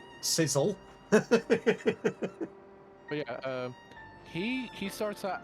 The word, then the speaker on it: Cecil: I pronounce it with an unstressed E. Sizzle.